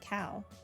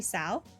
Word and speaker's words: Cao: don't really know but cow is a soft sea like ESS inet really I thought they pronounced it cow it's supposed to be sa interesting true but he's